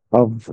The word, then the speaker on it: of: Et pour en venir à la prononciation, le premier se, se prononce of ou bien c'est toujours un V que l'on entend. Par contre, le second se prononce off, on entend son feu.